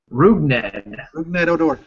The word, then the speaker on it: Rougned Odor: Rougned Odor.